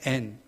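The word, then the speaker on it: ἐν: 안에 라고 하는 단어 헬라어는 애니 이라고 하는 단어입니다 앤 앤 이라고 발음합니다 2 n 이라는 단어는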